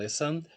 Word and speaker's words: listen: Bom, como vocês viram, listen tem 2 sílabas e a tônica é a primeira, ou seja, esse final